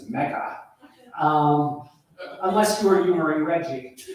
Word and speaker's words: Megha: 20 minutes ago, I would have mispronounced her name. Being I'm from New Jersey, it's Megha.